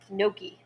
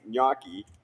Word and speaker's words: gnocchi: Jimmy, you Wait, ordered what the is gnocchi? that, Jimmy? How do you pronounce that? Gnocchi.